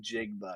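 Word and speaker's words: Njigba: in Jigba. Yes, that's how you He pronounce it.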